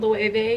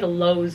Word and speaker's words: Loewe: My sweater is from Loewe. Is that how you say it? Mm-hmm. I got dragged. I said like Lowe's or something.